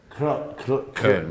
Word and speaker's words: Köln: Köln, ¿no? ¿Y aquí... ¿Cómo se escribe?